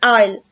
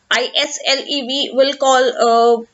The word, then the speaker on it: Isle: ISLE we are not going to call it as the Easel or Isle, nothing. Right here the S is silent, so we call it as Isle, the Lake Isle of Innisfree.